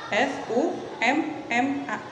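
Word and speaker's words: ثُمَّ: Summa, maaf, M-nya double, S-U-M-M-A, summa. Nah, dibacanya seperti itu ya.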